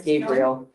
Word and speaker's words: Gabriel: It's spelled Gabriel, but it's Gabriel.